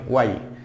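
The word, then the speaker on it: why: তারপর হচ্ছে হোয়াই, ওয়াই এটা সঠিক উচ্চারণ হচ্ছে ওয়াই। তাহলে এখানে এই ডব্লিউ এর উচ্চারণটা হয় না, ওয়াই।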